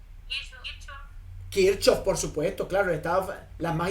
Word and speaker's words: Kirchhoff: alterna, está conformada por las leyes de Kirchhoff, o de Kirchhoff, como se pronuncia en alemán, por las leyes, por